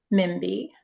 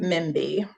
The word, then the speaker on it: Mbie: bit of your story Okay so so um Mimi is how it's pronounced but that's fine because it's sometimes